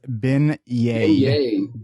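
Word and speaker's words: beignets: really do much sightseeing there because so it's pronounced B yayay yeah but there I think she did spell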